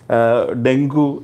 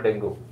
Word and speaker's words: dengue: So if you see the layman term, most of them call dengue because the spelling is such that we pronounce it such a way. But if you see the actual pronunciation, it's dengue.